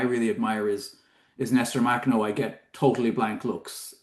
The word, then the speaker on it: Makhno: admire is is Nester Machno. I get totally blank looks. Um, and that is I think because I wasn't saying Machno, um, which is clearly how you're supposed to say his name, which I now know